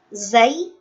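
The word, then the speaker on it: زاي: Huruf zai, sin, dan shad itu keluar dari ujung lidah yang bertemu dengan gigi seri bawah.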